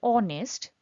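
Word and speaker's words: honest: অ, এটা একটা ভাওয়েলের প্রনাউন্সিয়েশন দিয়ে শুরু হচ্ছে, সেজন্য আমার এখানে হি is truly a অনেস্ট person হবে না। কনসোনেন্ট থাকা সত্ত্বেও যেহেতু উচ্চারণটা একটা ভাওয়েলের মতো হচ্ছে, অনেস্ট, এরম করে শুরু হচ্ছে, সেই জন্য আমার এটা হয়ে যাবে অ্যান। হি is truly an অনেস্ট person.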